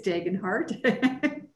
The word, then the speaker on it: Degenhardt: in a private chat how to pronounce his last name so it's degen heart appreciate that uh ryan